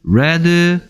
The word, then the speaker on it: read: 얘는 스펠링 안 바뀌는데 EA가 가진 소리 몇 개? 뭐하고 뭐? E하고 A가 있죠. 근데 원형일 때는 리드가 되고요. 과거형과 입장 바뀐 어떤 형태일 때는 레드가 됩니다. 리드, 레드, 레드.